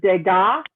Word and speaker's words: Degas: you monet edgar edgar degas again that s is french they don't pronounce it there's a lot of